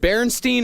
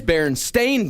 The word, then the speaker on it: Berenstain: Is it Berenstein or Berenstain? Berenstein Bears. It's the Berenstein Bears. Berenstein Bears. Yeah, they're Jewish. No, it is not. It is Berenstain Bears. It is spelled Berenstain.